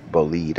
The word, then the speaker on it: Bolide: have in my garage the Bugatti bolide or boled as it's pronounced in French this is the extreme